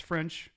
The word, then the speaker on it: French: I usually say it's French, like the language, or the fries, or the toast, whatever you're into.